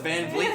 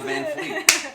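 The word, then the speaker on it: VanVleet: apparently seems to be it's van vet not van Fleet it's van van vet what was the other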